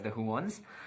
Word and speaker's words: The Juans: You guys told me that it's pronounced as the Juans, and Donnalyn Bartolome.